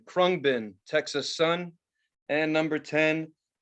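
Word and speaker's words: Khruangbin: Number 9, Krungbin, Texas Sun.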